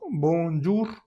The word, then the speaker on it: bonjour: Fíjate que aquí ya tenemos en la primera sílaba, al final de la sílaba, tenemos la ON. La O pertenece al tercer grupo de de vocales nasales. Aquí lo tenemos. O n o también OM se pronuncia con la boca muy cerrada, mucho más cerrada que en español.